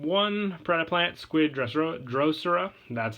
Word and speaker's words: Drosera: plant counters and one pred plant squid Dr drosera that's how you pronounce it uh you can send this card